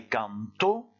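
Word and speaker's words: cantó: Ici, on va prononcer canto, en insistant sur le dernier O, et quand vous êtes au présent d'indicatif et que vous supprimez l'accent écrit, on dit canto, c'est-à-dire que vous insistez plutôt sur le A.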